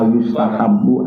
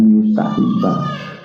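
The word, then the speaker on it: يستحب: Anna Nabi Wa sallallahu inna ma yustahabu an yusolliya. Ini bukan lagi makna Imam Syafi'i suka, tidak. Apalagi bacanya tadi yustahibba. Yustahabu disunahkan Pak ya.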